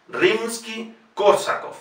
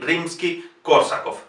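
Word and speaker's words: Римский-Корсаков: La O, siendo una palabra esdrújula, se pronuncia directamente como Rimsky-Korsakov. Nikolai Rimsky-Korsakov.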